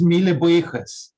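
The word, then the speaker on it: míle buíochas: I don't know how to pronounce this this word in Irish, but yeah, it's pronounced mille buíochas. Okay. It means 1,000 thanks, lots of thanks.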